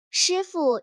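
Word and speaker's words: 师傅: 上车，第一句，师傅你好。对，师傅 2 个字贴紧，傅读轻声，几乎听不到声调，这是中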